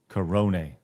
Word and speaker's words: Corone: Corone. Like coronavirus.